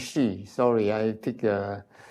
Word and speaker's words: Shy: And although this is shy, I pronounce Shi.